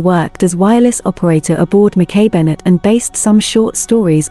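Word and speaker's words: Mackay-Bennett: Her crew pronounced her name Mackay Bennett.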